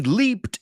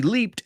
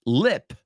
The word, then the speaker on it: leap: He leaped out of the bushes. Saltó a la vista. No? He leaped out of the bushes. And be careful. It's not pronounced lip, right? It's not lip.